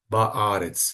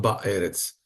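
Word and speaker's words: בארץ: aqui esse cets então fica melhor de pronunciar ba arets não e não ba erets eh Talvez para nós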